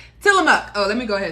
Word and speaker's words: Tillamook: with tillamook you guys i have been saying it wrong for a very long time till i'm up oh let me go